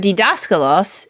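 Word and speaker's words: δάσκαλος: this down a moment for dascal Los the accent is two syllables from the end on the syllable that we call the anti penal right right daskalos and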